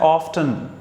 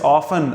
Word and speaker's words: often: I myself call that often. And if people trying to cross me, no, it's often. I show them phonetic transcription. It's written, it's often. Yes, both pronunciations are okay.